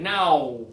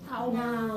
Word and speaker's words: now: This one here requires motion. This one is start big. Ow, ow. That's it. Now. Now.